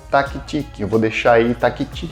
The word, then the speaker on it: Tactic: O modelo desse quadro é o taktic. Eu vou deixar aí taktic literalmente escrevendo. Fala-se, pronuncia-se em inglês tactic.